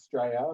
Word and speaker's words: Australia: It's actually pronounced Australia, but we'll get there. Australia? Australia. So you guys just cut the A and the U right off.